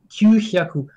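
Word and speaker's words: 九百: Parce qu'en fait, on interprète le H comme un H muet en français, mais en fait, c'est pas du tout. la même syllabe. Donc c'est très important de dire kyu-hyaku.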